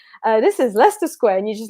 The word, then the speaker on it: Leicester Square: you probably pronounce it Leicester Square. There's an extra s in it when you write it, and so as a